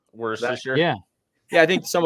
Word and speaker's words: Worcestershire: how do you say, Worcestershire? Worcestershire.